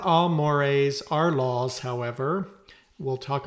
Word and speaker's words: mores: folkway we have mores that's pronounced mores m o r s those are more formal